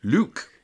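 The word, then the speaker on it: Luq: Luke. Yes, spelt with a Q. Really? Yes, L-U-Q.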